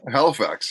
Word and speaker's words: Halifax: We are in Halifax, I think. I'm pretty I sure. guess Is that how you pronounce it? Halifax, yeah, yeah.